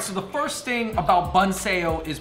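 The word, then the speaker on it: Bánh xèo: All right, so the first thing about Bun Sale is pronouncing the name Bun Sale because it starts X E O.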